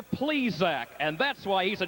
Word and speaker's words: Plesac: down trackside they said please correct your pronunciation he's named obviously for the baseball man mister please Zack and that's why he's